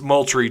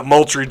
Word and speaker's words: Moultrie: possibly Georgia, but he's out of, I can't pronounce that town, Moultrie. Well, no, okay, my bad. It's Moultrie, Georgia. I'm dyslexic. I swear to God. I swear those letters moved around. Yeah, Moultrie, Georgia, and he is 4-star running back, 5'10", 200 pounds.